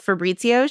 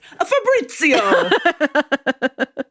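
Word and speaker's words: Fabrizio: She ends up dancing with Fitzio. She's like this Swedish woman or whatever. And we sort of see her for a moment. He said his name wrong. It's Fabitzio.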